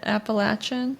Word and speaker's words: Appalachian: Appalachian?